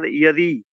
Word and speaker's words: যদি: যদি বলি অন্তস্থ জয় ওকার দ্বারসে যদি বলি বাংলায়। কিন্তু এটা ইয়াদি, ইয়াদি এরকম হবে। ইয়া অন্তস্থ জ মানেই ইয়া আর ইয়াদি এইরকম উচ্চারণটা হবে।